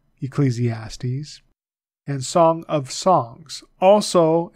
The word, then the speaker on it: Ecclesiastes: silent Psalms proverbs Ecclesiastes the e is long there and so the eye is also a sound right Ecclesiastes Ecclesiastes and Song of Songs